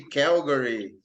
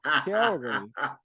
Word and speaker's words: Calgary: They dare say Calgary. Horrible. What Calgary. Horrible pronunciation. Yeah, Calgary.